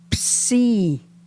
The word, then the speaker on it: Psi: Psi, which is rice. Pshi has the SH sound, whereas psi is just the S.